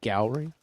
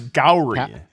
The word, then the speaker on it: Gourry: It's actually pronounced Gowry. Oh, Like it's Gowry. yeah, like rhymes with cow.